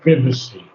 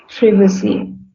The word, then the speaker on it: privacy: his will so um it's actually the British like to pronounce it privacy privacy privacy and I keep the British pronunciation so everything is uncovered